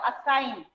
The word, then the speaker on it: assign: What is silent in this word? Assign.